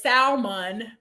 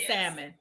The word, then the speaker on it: salmon: about it so it's a problem if he says salmon instead of salmon that's a big problem it doesn't like it doesn't have it doesn't have that the l is silent it's very so sad